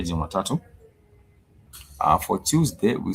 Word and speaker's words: Jumatatu: For Monday, we say Jumatatu, as you can see it here. For Monday, we say Jumatatu.